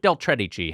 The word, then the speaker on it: Del Tredici: for us is that your name rhymes with cheddar cheese Del cheddar cheese yeah